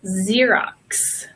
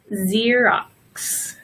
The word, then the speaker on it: Xerox: box and maximum but we also pronounce the letter X like of Z sometimes for example the xylophone so here is a perfect example Xerox it's got both Xerox can anybody think of